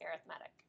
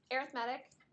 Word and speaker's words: arithmetic: -1, -5, -9 is arithmetic. So arithmetic, that's the way you pronounce it, but it looks like arithmetic, right?